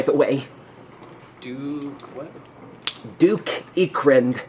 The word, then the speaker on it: Ickrind: say, "My name's Duke Ekrind, by the way. Duke, what? Duke Ekrind. That's spelled ICKRIND.